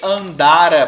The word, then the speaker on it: andara: A sílaba tônica aqui muda tudo. Se eu falar assim, ó, ele andara pelo parque, pretérito mais que perfeito.